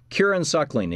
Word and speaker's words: Kieran Suckling: Kieran Suckling is the founder and executive director of the center.